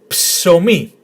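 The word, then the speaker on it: ψωμί: So psomi, psomi, which means bread. Psomi. Again, we pronounced the p together with yes, psomi.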